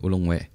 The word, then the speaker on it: ulung we: Ini bacanya ulung we atau ulung wae ya. Kalau orang Sunda mah wae gitu ya. Orang Sunda wae sih ya. Jadi ulung we.